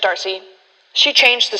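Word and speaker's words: D'Arcy: Is that how you pronounce her name, DRC, or is it Darcy? It is just Darcy.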